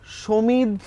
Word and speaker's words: সমিত: সমিত, যারা বাংলা ভালো জানে বা উচ্চারণ যাদের ভালো, তারা সমিত বলে। সমিত, আমি বলি সমিত, মানে সমিত। বাঁয়ার যে ধন ওটা আছে ওই রকম সমিত, যাতে সমিত না হয়ে যায়।